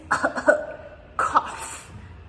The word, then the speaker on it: cough: And this one is cough. Cough. So again, tricky pronunciation because these letters make the F sound even though there's no F letter there. So the GH make the F sound.